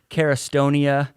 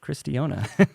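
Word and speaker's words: Cairistiona: c-a-i-r-i-s-t-i-o-n-a and uh all the time she gets carristonia uh that's the way i would pronounce it if i read it carastonia yeah so all kinds of good stuff and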